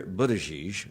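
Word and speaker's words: Buttigieg: Julian Castro and South Bend Indiana Mayor Peter Budaj I think that's how you say his name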